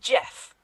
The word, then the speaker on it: Geoff: Also, I don't trust anyone who spells their name with a G and it's pronounced Jeff.